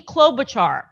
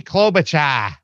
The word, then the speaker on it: Klobuchar: has this is amy klobuchar right she's a great leader of the progressives you gotta say her name right it's amy klobucha amy klobucha so she said hearings